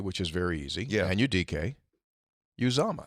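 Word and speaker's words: Anudike-Uzomah: Well, let's take a look at the pronunciation. He's a problem. His name is Anudike, which is very easy. Yeah. Anudike Uzama.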